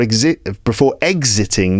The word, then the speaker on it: exiting: Exiting, the first syllable is stressed, exit, and existing, the second syllable is stressed there.